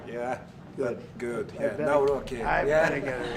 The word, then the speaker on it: Nawrocki: Nawrocki.